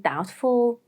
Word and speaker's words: doubtful: 2, when there is BT, like in doubtful, subtle, or the more American version, subtle, and that, or the more American pronunciation, that.